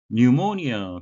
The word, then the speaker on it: pneumonia: pneumonia, P는 묵음이 되겠습니다. A serious illness, 심각한 질병인데요.